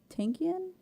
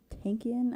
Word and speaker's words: Tankian: Because it's Serge, but it's Serj, and then Tankian, I think is how you say his last name.